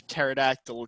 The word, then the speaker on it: pterodactyl: can't you hear a pterodactyl go to the bathroom we have not done this for the record and i'm kind of scared because the p is silent yeah the grabbing of